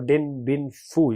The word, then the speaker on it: Dien Bien Phu: The answer here is Dien Bien Phu. Dien Bien Phu. Or Dien Bien Phu. You can pronounce it like this.